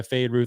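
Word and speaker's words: Feyd-Rautha: as the Austin Butler character that we can't pronounce the name of. Yeah, we are Fade Ruth, isn't that? Yeah, Fade Ruth Harkin.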